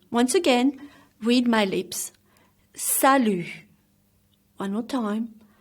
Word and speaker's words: salut: solution which means high and the T is silent sallu is used for a mate or a good friend once again read my lips salut one no time salut next is oh shanthi